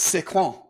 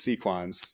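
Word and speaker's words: Sequans: calls himself George and he says it's sequins." So, I'm going with George and Sequins.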